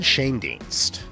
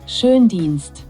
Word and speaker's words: Schoendienst: So the umlauted O in German is basically the same as OE.